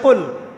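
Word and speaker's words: قل: যেমন একটা অক্ষর আছে কফ বড় কফ। যেমন কফ দিয়ে একটা শব্দ আছে কুল।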